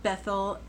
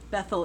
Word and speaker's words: Bethel: his second altar between Bethel Bethel Bethel is how most people pronounce it I try to say beth-el because that reminds us that it's house of God whenever you see Beth